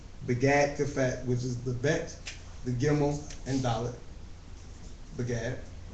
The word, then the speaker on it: bet: With a Bagad kefat letter, as in bet with the dot, they were going to say to pronounce it as a B as in boy, and without it, it's going to be a V as in vine.